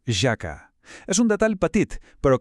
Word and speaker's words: haka: El secret està en la pronunciació. La H en maori es pronuncia com una jaca suau, com la nostra. Per tant, no es diu haka, es diu jaka.